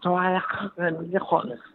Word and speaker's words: Torremolinos: Yeah, no, that's how they pronounce it. Tohamilihano. You mean Torremolinos? Oh, my God. Well, oh, how awful. The way that you English say we Spanish say it.